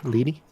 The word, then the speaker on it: Leery: Leary right lady oh lady yeah it is spelled leery but yes lady okay lady lady you're